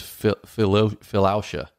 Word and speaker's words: philautia: And then the last one, I don't know exactly how to say it, but it's philautia, P-H-I-L-A-U-T-I-A, philautia, which is honestly self-love.